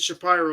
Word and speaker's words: Shapiro: time I don't know Shapiro I don't I have not seen footage of him enough he used to pronounce it shapy and he would correct you um and I want